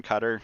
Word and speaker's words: Qatar: what's happening over in Qatar um or Qatar there's multiple ways to pronounce it I think they actually came out and said they don't like it when people say cutter because it sounds too much like gutter which honestly kind of